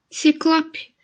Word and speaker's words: ciclope: e a outra palavra o som é o olho aberto tá tenta pronunciar ciclope isso ciclope então eu tenho uma